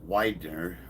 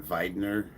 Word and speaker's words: Widener: America too yeah well my last name is Widener Widener which was uh before they came over after World War II was uh spelled with the two like the Volkswagen the two v's so it would have been venner but uh they just